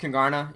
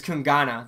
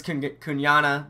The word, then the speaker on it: Kungarna: And it's actually not pronounced Kungarna, even though that's what everybody says. That's what I say. It's Kungana. The R is silent at the end, so it's Kungana.